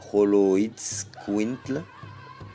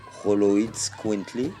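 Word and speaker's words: Xoloitzcuintle: du naalle et rolotquint rolotquint singulier prononcé roloid quintle roloid quintly donc le nom vient de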